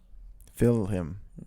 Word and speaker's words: film: don't care about their did you know that most people in ireland pronounce film film yeah and scotland really